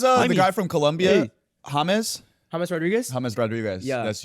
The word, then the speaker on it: James: They call they probably just pronounce the J like an H.